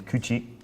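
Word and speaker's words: 口: It's ko and ku is the onyomi reading of mouth, and this one here is kuchi is the kunyomi reading.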